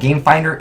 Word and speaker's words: Gamefindr: So it's called Gamefinder. It's spelled F-I-N-D-R. There's no E in Finder.